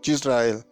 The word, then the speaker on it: Yisrael: Yo en español soy Israel, en inglés me dicen Yisrael. En hebreo también. Curiosamente en inglés y en hebreo se pronuncia Yisrael de la misma manera.